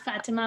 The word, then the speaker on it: Fatema: It's Fatima, but it doesn't matter.